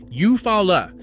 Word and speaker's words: Eufaula: Eufaula comes out Eufaula.